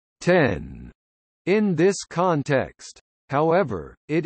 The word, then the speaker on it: X: The letter X in Mac OS X's name refers to the number 10, a Roman numeral. It is therefore correctly pronounced 10 in this context.